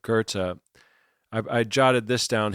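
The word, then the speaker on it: Goethe: And Gerta I believe that's how you say it. spelled like goth but Gerta I I jotted this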